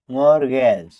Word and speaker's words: mortgage: MORTGAGE মর্গেজ অর্থ বন্ধক। টি শব্দের মাঝখানে কনসোনেন্ট ক্লাস্টার হলে যেখানে উচ্চারণ কঠিন হয় টি ড্রপ হয়ে সাইলেন্ট হয়।